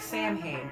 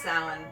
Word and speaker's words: Samhain: holiday of samhain um it looks like samhain but it is definitely not pronounced that way pronounced sound to the best of